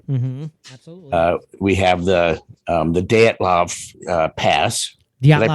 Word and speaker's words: Dyatlov: We have the Dyatlov Pass. Did I Dyatlov pronounce that Pass. right? Yep, Dyatlov.